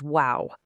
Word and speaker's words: guau: The absolutely crucial point here is that Spanish actually has a direct phonetic equivalent to the English word wow. It's spelled just a little bit differently using G-U-A-U, but it serves the exact same purpose.